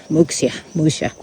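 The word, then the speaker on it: Muxía: 5, going to Muxia, Muxia. But the X is pronounced sh.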